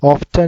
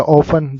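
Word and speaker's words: often: Adverb of indefinite frequencies हमारे पास जैसे कि always 100%, usually 90%, normally, generally 80%, ऑफ्टन या ऑफन दोनों प्रोनाउंसिएशन करेक्ट है।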